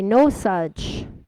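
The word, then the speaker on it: Nosaj: But they spell it N-O-S-A-J, No Such.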